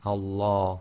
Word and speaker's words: Allah: So be very careful. It's Allah.